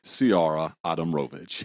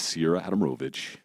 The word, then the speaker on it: Ciara Adamrovich: this is my sister it's me ciara adam rovitch you didn't even say my name right it's cool do i you need three more of those to say my name right okay i'll say it correctly it is sierra adamrovich so you're nicole adamovich